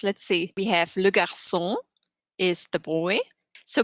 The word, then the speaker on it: garçon: We have le garçon is the boy. So because we have an A right after it, it's like G in get.